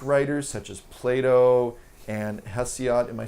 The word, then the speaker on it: Hesiod: The Greek writers such as Plato and Hesiod. Am I saying his name right? In English, we usually pronounce it Hesiod. Hesiod, thank you.